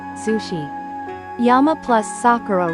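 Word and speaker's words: 桜: pointing arrow goui bako this can only be explained by the rules of the Japanese language please understand that like linking or connected speech in English there are phenomena in Japanese where sounds change when words are linked together. Therefore, please remember that Sakura and Zakura are the same word.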